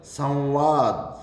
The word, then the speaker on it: संवाद: संवाद, मैं आधा नहीं होगा, संवाद नहीं होगा, संवाद, संवाद, संवाद अनुस्वार होगा, ये ध्यान रहे हैं।